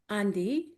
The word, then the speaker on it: Dii: So when it comes to d you have to add an n at the beginning or when it comes